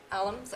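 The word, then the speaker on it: Allums: Is that how you pronounce it? Alums, okay.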